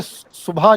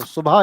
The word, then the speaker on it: सुबह: कुछ लोग बोलते हैं सु बहा कुछ बोलते हैं सुबह। अब जैसे असली जो प्रोपशन प्रोनाउंसिएशन है सुबह का वो है सु और बा कंबाइन होते हैं। हा अलग आता है। तो सुभा इज ट्रू वन।